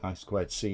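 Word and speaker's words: I²C: see it written as it's actually I squared C is how it's said and that actually has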